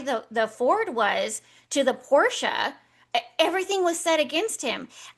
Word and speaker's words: Porsche: to get the Porsche, which we learned is pronounced Porsche, 2 syllables. I've always called it Porsche.